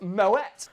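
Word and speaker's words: Moët: Actually, I think you'll find it pronounced Moet.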